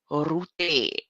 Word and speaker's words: Rutte: And then separately, Prime Minister Rutte, so Amazon, help me with the pronunciation. Rutte. She said, roll the tongue.